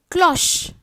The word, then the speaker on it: cloche: O and A-U can also have a slightly varied pronunciation instead of just O. It can be a little bit open O, like cloche. C-L-O-C-H-E, cloche.